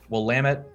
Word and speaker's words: Willamette: like willametta willa maytay and of course the willamette river runs right through downtown portland so we'll lamit is how you say that uh definitely one